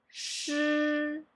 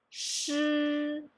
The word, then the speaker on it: 诗: Okay, and then the second one will be 吃吃, and then the third one 诗诗.